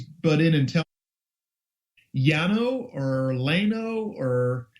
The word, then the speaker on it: Llano: It would be Llano. Yeah, Llano. I was going to say the double L has always been pronounced as a Y as far as I know.